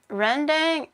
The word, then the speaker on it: rendang: Rendang is pronounced with the ren part sounding like you say turn, and the dang part like how you say the A in Tom.